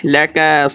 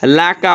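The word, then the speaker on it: لَكَ: প্রত্যেকটা হরফ যেভাবে যেখানে আছে, রহা এগুলো হা না হয়ে যায়, রহ যেন বাহির হয়, লাকা হয়, লাক না হয়, সাদ না হয়। এখানে এই রকা আছে, রকা হয়, রাকা না হয়, এগুলো লক্ষ্য করবো ইনশাআল্লাহ।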